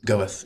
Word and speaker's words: Goethe: Uh Goethe, if you're not sure of the pronunciations.